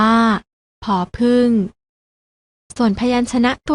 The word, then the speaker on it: ผ: ต่อ ไป นะ คะ พยัญชนะ ตัว แรก อ่าน ออก เสียง ผอ อ่าน ว่า ผอ ผึ้ง ส่วน พยัญชนะ ตัว ที่